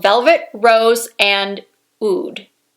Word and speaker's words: oud: one so much it's called velvet rose and ood oud that's how it's pronounced right ood i'm looking on the nordstrom website right now